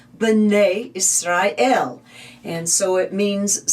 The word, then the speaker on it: Bnei: Or when it's talking about all of the children of Israel, it will say Bnei Israel.